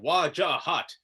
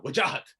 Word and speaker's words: Wajahat: If you're American, you block it up. It's like Wajahat. If you're my mother, it's like a katana, Wajahat. And if you're just everyone and you're exhausted of 3 syllables, Waj.